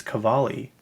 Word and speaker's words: Cavalli: Someone call it Cavalli. I'm like, why would you say it that way? Like, that's not even how you say it. It's Cavalli.